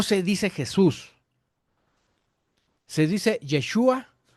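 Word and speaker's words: ישוע: Y en hebreo Jesús se pronuncia o se escribe Yeshua o Yeshua Amasiaj, que significa Jesús, el Mesías.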